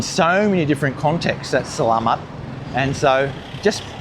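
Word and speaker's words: selamat: You just go "Slamat".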